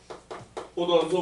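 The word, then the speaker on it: 홑원소: 그럼 이렇게 한 종류의 원소로만 되어 있는 경우에는 뭐라고 부르냐면 포던소 물질이라고 불러요. 히읗 발음입니다. 포던소 물질.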